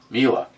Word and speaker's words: Mila: So am I getting it right at all? Ever? Mila. As in M-E-La. Mila.